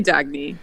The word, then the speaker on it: Dagny: You can call me Dagny.